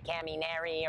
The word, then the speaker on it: Kaminari: In English, I know a lot of people want to say the Kaminari or whatever you want to say. Kaminari. That's how it's pronounced.